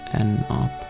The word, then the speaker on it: ennopp: It's pronounced E no poor N up. Whatever you prefer. Since it's short for, N up makes more sense.